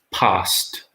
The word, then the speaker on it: passed: I always passed my history exams. 1 syllable again. Passed.